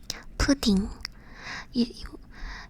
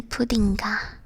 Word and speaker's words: 푸딩이: Pudding. You wouldn't say puddinga. You would say puddingy.